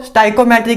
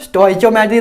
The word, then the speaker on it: stoichiometry: तो पहले देखो स्टाइकोमेट्री क्या होता है, इसकी प्रोनाउंसिएशन इसको क्या बोलते हैं, स्टाइकोमेट्री, ठीक है ना, स्टोइचोमेट्री ना बोलने लग जाना।